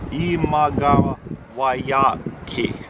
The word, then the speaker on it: Imagawayaki: That's how you pronounce it. Imagawayaki.